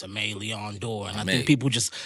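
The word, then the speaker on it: Aimé Leon Dore: say it and i'll be like nah it's amalia on door and i think people just love me saying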